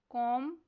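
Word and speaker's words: comb: Next word है कॉम। इसमें silent letter B पर सर्कल करना है।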